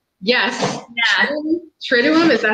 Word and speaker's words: Triduum: The Triduum? Yes. Yeah. Triduum, is that how you say it?